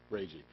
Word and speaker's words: Braje: Braje.